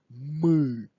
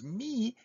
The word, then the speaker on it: мы: Keep in mind, if you would pronounce this as me, it would not be мы, it would not be us, it would be name of the note, do, re, mi.